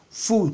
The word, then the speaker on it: fool: Mais je sais que fool, fool comme food. Partout vous voyez deux O, c'est en réalité OU, ok? En français quoi.